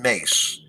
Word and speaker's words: Myss: got a tape of carolyn mace and her last name is spelled myss and she's a spiritual